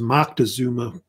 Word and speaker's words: Moctezuma: It's also pronounced Moctezuma with a C instead of an N.